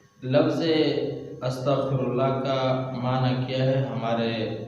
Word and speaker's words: استغفر اللہ: گناہ معاف فرما دے۔ اب یہاں پر استغفراللہ کا جو صحیح تلفظ ہے اس میں ایک ہے غین کے نقطے کے ساتھ اور ایک ہے عین بغیر نقطے کے، لیکن جو غین کے نقطے کے ساتھ ہے اس کا معنی صحیح ہے وہ تلفظ، اور اگر چھوٹے عین کے ساتھ پڑھو گے بغیر نقطے والے عین کے تو اس کا معنی بالکل غلط ہو جاتا ہے۔ دیکھو استغفراللہ غین کے